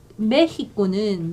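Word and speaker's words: México: 그 다음에 메히코는 멕시코가 아니라 멕시코로 발음하셔야 돼요.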